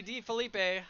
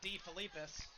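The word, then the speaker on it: DeFelipe: Kelsey D. Felipe. I've known Kelsey for a very long time, and I still can't pronounce her name. Last name is not D. Felipis. It is D. Felipe.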